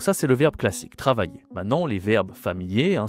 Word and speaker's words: travailler: Attention ici à la prononciation il y a I de L. Travailler. C'est difficile hein travailler. Bon, j'ai fait une vidéo sur les consonnes. Va voir hein. La consonne ici c'est un ye travailler.